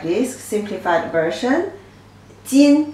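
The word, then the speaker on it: 斤: Jin pronunciation, jin, jin.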